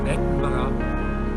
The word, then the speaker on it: Edinburgh: The correct pronunciation of Edinburgh is Edinburgh.